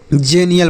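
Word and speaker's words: xenial: इसे हम क्या पढ़ेंगे जेनियल पढ़ेंगे क्या पढ़ेंगे जेनियल एक्स का उच्चारण ज के रूप में करेंगे तो तो एक्स से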